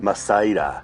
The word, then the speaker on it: Mazaira: Is that the proper pronunciation? Masera. Masera.